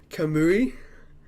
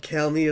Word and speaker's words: Kamui: Next up is Creation Myths by Kyell Gold and Kamui. Not Kalmi, as I always pronounced it.